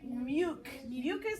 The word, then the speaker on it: mucus: Very mucus. That C sounds like a K.